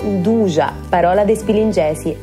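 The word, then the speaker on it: 'nduja: Ah, scommetto che la maggior parte di voi la chiami ancora Anduja, ignorando che la pronuncia corretta sia proprio Ndugia, parola dei spilingesi, e quindi 0-0 palla al centro.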